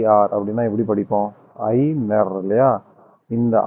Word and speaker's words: Aigner: இதுல என்ன விஷயம் அப்படின்னா இந்த ஜி வந்து சைலன்ட் ஜி வந்து உச்சரிப்புல வராது. இது ப்ரோநௌன்ஸ் பண்ணும்போது நான் பண்ண ஐக்னர்ல வந்து இந்த ஜி கிடையாது. அப்போ ஐ நர் அவ்வளோதான் வரும்.